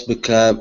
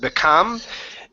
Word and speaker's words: became: up and his voice became excited. Okay, very good. Let's go to the word became. This is a long A sound instead of become. Aim, became. Became.